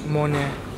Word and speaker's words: Mone: right mon how do you say your name Mon and you you know me you me yeah